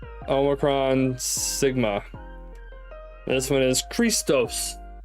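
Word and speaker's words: Χριστός: xmus um because the x is capital for the um CH sound the ch sound and the then it's uh a row Iota Sigma focus camera to Omron Sigma this one is Christos Christos or Christ that's where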